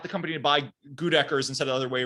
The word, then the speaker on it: Goedecker's: How did you pronounce it? I want to. It's Goose Deckers. No, I'm gonna feed you fake names. No, it's Goedecker's.